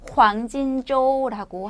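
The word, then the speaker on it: 黄金周: 발음은 황진조라고 합니다.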